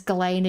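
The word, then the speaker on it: Ghislaine: This lady says Galain and she knew her. So I'm going to go with Galain. I would say that's how it's pronounced if she she knew her personally.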